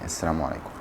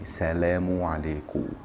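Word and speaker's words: السلام عليكم: So even if you're speaking to just one person, you can say Assalamu alaikum. Of course, there are different versions of pronunciation and stuff depending on the country, but this is the most correct way of saying that. For example, in Egypt, people usually say Salamu alaikum, which is basically the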